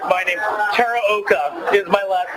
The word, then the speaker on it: Teraoka: I thought I'd butcher your name since you butchered fighting Tara oka is my last name a quick shout-out to